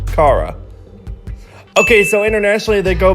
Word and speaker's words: KARA: fact junk its Jun K popular girls name kara often confuses it with the real pronunciation Cara okay so internationally they go by K NK